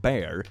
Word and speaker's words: Bexar: boy Eastern oh okay Bexar pronounced bear how do you get Bexar to be pronounced bear I swear to God